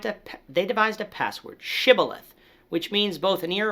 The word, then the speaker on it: shibboleth: side of the jordan pronounce this word with an sh sound while those on the